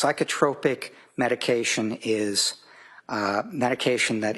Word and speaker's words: psychotropic: It's pronounced psychotropic and okay it's psychotropic medication is uh medication that is prescribed to help treat symptoms of mental or emotional disorder.